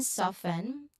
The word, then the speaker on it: soften: Now, an interesting one here, the FT cluster. It is found in soften. You know, the note here is significant. The T is often silent in casual speech.